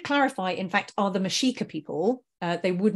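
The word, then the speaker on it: Mexica: would have called themselves the mashika which is spelled like Mexico but with an A on the end they um they their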